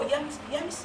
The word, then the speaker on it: Yemisi: Well, and I said, it's Yemisi. And he goes, and then he calls me Yesmi. And I said, no, it's not Yesmi because the S is before, after the.